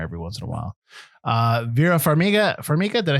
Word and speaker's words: Vera Farmiga: Vera Farmiga, did I say it right?